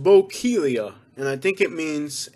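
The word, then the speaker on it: Bokeelia: today all right uh this one is pronounced bocalia and i think it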